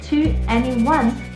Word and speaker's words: 2NE1: It's pronounced 2NE1 with 21 symbolizing the 21st century and NE representing new evolution.